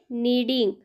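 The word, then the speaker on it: kneading: म्हणजे पीठ मळणे आणि यामध्ये के साइलेंट आहे म्हणून त्याचा उच्चार झालेला आहे नीडिंग आणि डो म्हणजे मळलेले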